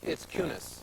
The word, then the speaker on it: Kunis: It's Kunis. Well, that's not what you said originally. That was close. Right. Let's check the tape. I think I said Kunis.